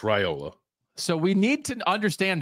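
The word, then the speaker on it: Raiola: thing from Nebraska is I've been saying the quarterback's name wrong so is that is that okay for the the guy who's about to take over college football for me to acknowledge that it's Rola not rayola oh I think I've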